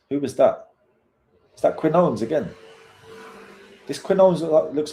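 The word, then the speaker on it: Quiñones: Quinones.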